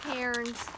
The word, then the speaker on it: cairns: Yeah, they're called cairns, and kind of like, I know you've heard of Carin Terrier. It's spelled the same.